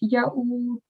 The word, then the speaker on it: يؤوده: And just towards the end, in the last word here, you pronounced it with a dhamma. So make sure you pronounce it properly. So it's ya'uduhu.